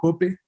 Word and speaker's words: Hoppe: Bueno, cuando Víctor Hugo me invitó a hablar sobre este autor, voy a pronunciarlo como se debe pronunciar en castellano, su apellido, Hoppe.